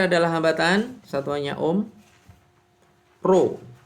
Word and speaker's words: rho: Rho, ini bacanya rho ya, rho itu hambatan jenis, itu satuannya adalah ohm meter.